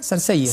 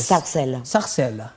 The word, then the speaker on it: Sarcelles: ¿Cómo se pronuncia? Sarcelles. Sarcelles.